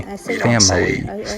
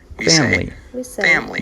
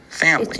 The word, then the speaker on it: family: For example, in the word family, the I is silent. We don't say family. We say family.